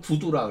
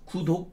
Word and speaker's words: 구두: 글을 끊어 버려요 이거를 구두라고 그래요 구 두 구독 이제 읽을 독이죠 근데 발음은 구두예요 구두 구독이 아니라 구를 끊는 거예요 여기서 꺼내요